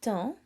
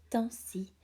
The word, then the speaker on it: temps: On passe beaucoup de temps dans nos maisons ces temps-ci.